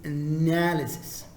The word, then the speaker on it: analysis: It's not analysis. Wrong. It is analysis.